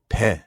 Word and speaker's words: pain: Oh, you have to say it like a Frenchman. Pain. Pain. Yeah, why do you think I have this outrageous accent? You don't even pronounce the eh. Just That's right. It just kind of like gets stuck in your nose.